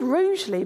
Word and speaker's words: Rugeley: We're in, it's called Rugeley, but it's spelled roughly.